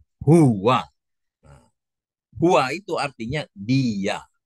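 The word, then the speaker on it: هو: Maka dibacanya itu huwa.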